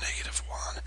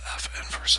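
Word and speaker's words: f⁻¹: = 6X F inverse please don't say F1 it's pronounced F inverse of x equal 1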